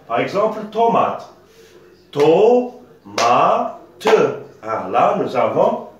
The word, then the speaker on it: tomate: Par exemple, tomate, tomate, T-O-M-A-T-E. Seulement, là, nous avons une lettre muette, hein, E. Le E ne se prononce pas, ça s'écrit, mais ne se prononce pas.